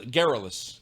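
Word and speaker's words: garrulous: Uh, geral geralus. Geralus. Geralus. Yeah. Geralus. Okay. You know what that rhymes with? Uh, frivolous.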